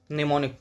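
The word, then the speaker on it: mnemonic: यहां पर am silent होता है प्रोनाउंसिएशन में निमोनिक।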